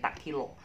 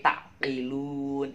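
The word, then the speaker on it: تعقلون: Tapi jangan bacanya tak kilo, tapi takkilun.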